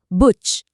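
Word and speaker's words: Buch: पहला शब्द है बुच। उ के बाद च है तो यह बना बुच।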